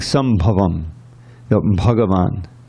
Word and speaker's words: bhagavan: like some of them bhagavan you know that's the actual way of pronouncing yes yes and this